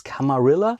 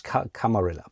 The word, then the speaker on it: Camarilla: I think there are various ways how to pronounce it. I think officially it's Camarilla. I could be wrong. I have seen Camarilla. Let's use Camarilla.